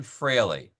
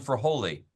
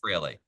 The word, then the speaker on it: Fraley: hard to pronounce because it's pronounced Fraley. I know you're probably thinking my name is for Holy, but it's actually Fraley.